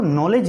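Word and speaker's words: knowledge: word हैं एक-एक शब्द हम इसको नॉलेज बोलते हैं पर स्टार्ट होता है कि से कैसे तो हम इसमें के बोलते ही नहीं है उसका कारण क्या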